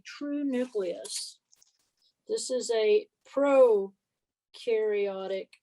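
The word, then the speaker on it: prokaryote: nucleus this is a pro-karyote cell pro rhymes with no here's your trick and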